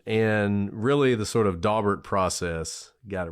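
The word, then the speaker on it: Daubert: and by the way we're laughing because it's pronounced Dober Dober and BR got all fancy on us you see yeah there's one person who pronounces it doar and I'm stuck on it anyways so in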